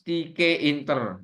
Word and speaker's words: Tkinter: objek ya note catatan teinter pronounce tik Inter J bacanya itu Tik Inter kalau saya enggak lah Tik Inter Enak gitu ya es for